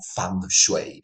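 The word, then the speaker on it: feng shui: En aquella corriente estética que en Occidente se conoce como fensui, ah, pero cuya pronunciación más exacta eh mandarín sería como fang shy.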